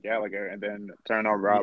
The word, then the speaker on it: Gallagher: it just me or can Americans not pronounce Jack Gallagher's name Gallaher its Gallagher he's well ago it